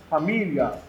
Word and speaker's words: família: Quando chega nessa situação aqui, ó, família, o I não é bem pronunciado, ele passa muito fraquinho. Por isso nós chamamos de semivogal. É quando a vogal numa palavra não é bem pronunciada. Sai tão fraquinho que chega a confundir com LH. Família.